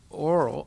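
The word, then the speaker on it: aural: If you hear, or oral reception, okay, so there's oral, O-R-A-L, and there's oral, A-U-R-A-L. A-U-R-A-L means hearing. O-R-A-L means speaking. Okay? They're pronounced exactly the same.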